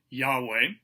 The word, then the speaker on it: Yahweh: an educated guess and they suspect that the name was pronounced yahweh and perhaps it was